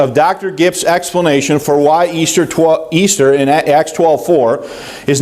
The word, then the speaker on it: Ishtar: Easter, as we know it, comes from the ancient pagan festival of Astarte, also known as Ishtar, pronounced Easter.